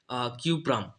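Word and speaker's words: Cuprum: होता है, तांबा का लैटिन नाम होता है क्यूप्रम, और इंग्लिश में देख लीजिए कि लैटिन नाम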